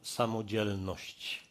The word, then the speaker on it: samodzielność: It's a word that we call samodzielność, with a particular accent on the second part of the word, that I'm personally brave.